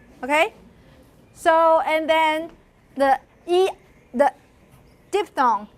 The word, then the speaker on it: diphthong: So, and then the diphthong, N. So, I'm actually going to also talk about diphthongs. Here, I'll show you the text later, but for diphthongs, what's the definition of, how do you call